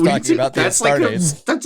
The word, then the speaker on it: Astartes: It's pronounced It's Space Arbites. Marines. yeah, and they're also called Adeptus Astrades. Astartes.